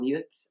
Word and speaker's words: Jutz: I did 4 albums over in Nashville with a Ah, wonderful producer, now luckily very good friend, Tom Jutz, or Tom Jutz as it's pronounced, and he is a